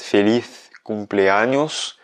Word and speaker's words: feliz cumpleaños: Donc, si tu veux la prononciation espagnole, ça va bien être feliz cumpleaños, avec un petit TH anglais à feliz.